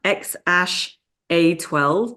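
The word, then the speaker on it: X Æ A-12: X so his kid is actually called It's pronounced X Ash a12 but it's written like it's like X and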